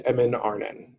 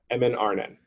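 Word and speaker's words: Emyn Arnen: i'll tell you two names the first is mnrn that's uh two words e-m-y-n a-r-n-a mnrn it's a small area of hills just west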